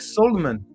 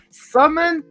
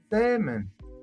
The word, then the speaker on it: salmon: It's like Solomon. You don't say Solomon? Really? Are you kidding me? You don't pronounce the L? Salmon? I always say Solomon. I thought it was Solomon. Salmon. Salmon.